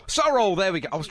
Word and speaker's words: Sorrell: end i'm afraid uh is that sorel or sorrell sorry so roll there we go i